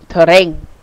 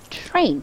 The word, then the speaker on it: train: We don't say terrain, but we said train.